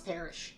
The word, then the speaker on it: Parris: I think it's pronounced Parrish. Do you know? I think it's Parrish. Parrish? Yeah, it's spelled Parris, but I believe it is Parrish.